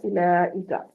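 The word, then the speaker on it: أولئك: जैसे लफ्ज आता है उलाइका, उलाइका में वाव साइलेंट है।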